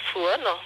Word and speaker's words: Souane: Alors, je suis Souane, donc Souane, ça s'écrit S-O-U-H-O-2-N comme Nathalie E.